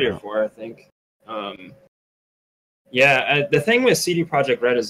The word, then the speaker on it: CD Projekt RED: CD Projekt project how do you say it CD Projekt RED CD Projekt RED like I think it's a very big risk